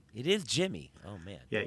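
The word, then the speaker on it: Yimi: it Jimmy Garcia or yimy it's Jimmy it is Jimmy oh man yeah even though it's a y you pronounce that as a j oh okay well glad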